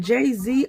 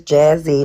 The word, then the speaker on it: Jazzy: Is it Jay-Z or Jazzy? It is Jazzy.